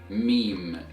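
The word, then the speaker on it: ميم: alright so the 24th letter of Arabic is renounced as meme meme meme meme so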